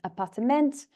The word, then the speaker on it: appartement: If we compare that to the Dutch word appartement, you can see that it has 4 syllables, and actually the stress is on the last syllable.